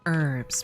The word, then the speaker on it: herbs: It's pronounced herbs, Mrs. Lady. The H is silent.